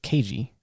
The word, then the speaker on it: Keiji: His name is Keiji. But all the Americans just simply call him Cage due to the mispronunciation of his Japanese name.